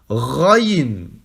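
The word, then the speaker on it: غ: Ici, pour prononcer le début de la lettre, c'est comme si vous aviez de l'eau au fond de la gorge, d'accord ? Et que vous nettoyez le fond de votre gorge. Rrr. Donc vous dites Raïn.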